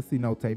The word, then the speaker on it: cenote: It's the cenote, but I understand. It is spelled C-note, so I can understand. She read it how it's spelled, so I understand you, Storm.